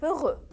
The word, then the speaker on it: heureux: pratique ce au masculin je mets le x mais je ne le prononce pas il est heureux les uns heureux est